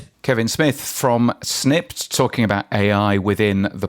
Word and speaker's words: Snipd: So, the best is to open up your phone, go to the App Store or Play Store and type in snipped. It's spelled S N I PD and you will find our app.